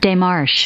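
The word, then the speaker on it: démarche: Petition They or have protest a pronunciation guide. Yeah, hold on, let's see. Demarche.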